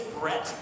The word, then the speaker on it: Brett: you remember my name uh my name is Brett b-r-e-t-t and if you can't if you're not good at remembering it's perfect you know why because bread rhymes with forget so like now you